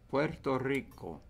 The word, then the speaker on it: Puerto Rico: Spanish instruments Puerto Rico Puerto Rico Accent on this last syllable foreign so